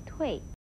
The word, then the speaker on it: 蛻: 不过睡变不可以念成脱变，蝉退也不要念成了蝉对。